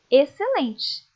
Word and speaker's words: excelente: Exceto, exceção, excelente. Perceberam que essas palavras, o C é pronunciado. O X acaba ficando sem ser pronunciado.